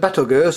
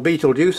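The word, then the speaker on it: Betelgeuse: moon around Jupiter but another thing looking at Battle Goose or Beetlejuice however you want to pronounce it in Orion the Vivid red colors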